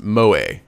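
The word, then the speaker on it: moe: characters who possess just Stace pronounced mo mo vending machine suspensive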